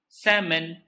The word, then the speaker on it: salmon: you silent the letter l shh let the letter sleeps so you say salmon do you like salmon